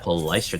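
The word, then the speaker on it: Palaistra: Palestra.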